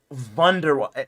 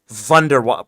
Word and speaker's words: Wunderwaffe: Why do people pronounce it Wunderwaffe? It honestly irritates me hearing that. Like, Wunderwaffe. Bro, that's literally a W. Like, bro, if you're English, bro, just say Wunderwaffe. Like a normal person, dude.